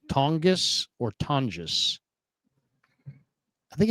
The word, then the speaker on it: Tonges: Is it a hard G? It's a Tongis. Jake Tongis. Tongus. Jake. Tongis. Yeah, I'm gonna go. A hard G. Pronunciation. I'm looking up pronounced tonis. Ton like ton. Like you're yawning. Ton. J. So J. So the second one's right.